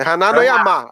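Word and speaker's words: Hana no Yama: Que é Haná no Yamá, a pronúncia.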